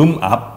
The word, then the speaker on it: 음압: 음악 병실 아니고 음압 병실입니다.